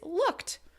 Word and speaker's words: looked: also a voiceless sound so when we say the past tense of looks it is looked if you put your